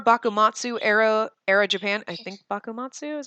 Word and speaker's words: Bakumatsu: I think Bakumatsu is how you say it.